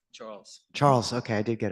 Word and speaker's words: Charles: It's Charlie, am I saying it right? Charles.